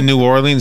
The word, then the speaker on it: New Orleans: See, I had to be taught how to say the name of the city. Because I would say New Orleans, and people call me up, would you stop calling it that?